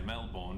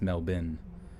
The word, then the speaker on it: Melbourne: you want to say melbourne because that's how it's spelled but for some reason yeah see he says you want to pronounce like melbourne but it's mel bin like m-e-l-b-i-n melbin boom that sam